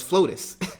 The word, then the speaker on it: FLOTUS: of the united states it's now known as flotus to rhyme with potus and um you basically